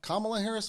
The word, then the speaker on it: Kamala Harris: I want to pronounce that correctly. That's right, Kamala Harris, Vice President Kamala Harris, speaking at a 50th anniversary of Roe v.